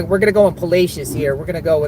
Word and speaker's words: Palacios: doing some storm chasing someone say it's pacious palacious okay yeah thank you um I actually did a pronunciation before um before I went live so or we talking about palacious look at that beautiful view out there palacious palacious thank you thank you for correcting me you know Outsiders don't